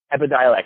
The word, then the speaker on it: Epidiolex: handling GW Pharmaceuticals and their pending approval of Epidiolex. I'm not sure I think that's how you say it out loud. Correct. But it is Epidiolex, yeah.